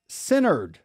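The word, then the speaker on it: Centered: All right, so we have another sponsor I want to talk about, which is Synerd.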